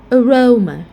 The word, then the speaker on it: aroma: So in this case, you are going to pronounce the second syllable stressed. For example, persona, or aroma.